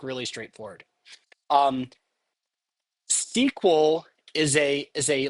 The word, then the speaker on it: SQL: you may have heard of are SQL SQL pronounced SQL um and my SQL is one particular implementation